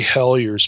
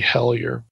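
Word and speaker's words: Helyer: So you could buy, you know, a book like Larry Hellyer's book. His last name is spelled H-E-L-Y-E-R. Okay, Larry Hellyer.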